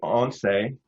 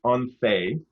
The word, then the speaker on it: ONCE: There's an organization there called I call it once, but apparently in Spain it's pronounced once.